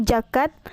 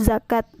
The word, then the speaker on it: zakat: Contoh salahnya yaitu jakat, sedangkan contoh benarnya yaitu zakat.